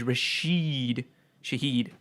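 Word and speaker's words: Rashid Shaheed: one that's a little little out there is rashed Shahed rash finally that this the first time that show's been that name's been pronounced right on this show I think ever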